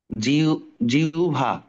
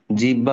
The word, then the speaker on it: জিহ্বা: রসগোল্লা সরবর্ণ সরবর্ণ আওভান জিউভা হ্যা এইখানে আমরা জিহ্বা বলবো না হ্যা জিহবা বা অন্য কিছু বলব না আমরা বলব জিউভা ওকে জিউভা আচ্ছা এইখানে